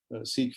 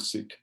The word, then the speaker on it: Sikh: you pronounce the word Sikh? And so this slide tells you that it almost sounds like when a person is sick, and so Sikh is the right pronunciation.